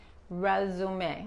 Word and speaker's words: resume: Otra vez, esta S se pronuncia como una Z. También les estoy explicando esto para que entiendan que les están preguntando si dicen esto. Resume, ok, la Z, ok, resume. La E corta, la Z, ok.